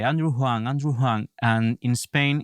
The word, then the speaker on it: Huang: of this sketch then I corrected the pronunciation Andrew hang with an H so over here I used